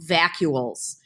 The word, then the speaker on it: vacuoles: It sounds like the word vacuum. It's called vacuoles.